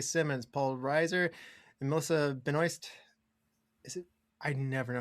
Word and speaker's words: Benoist: Yes, it's Benoy.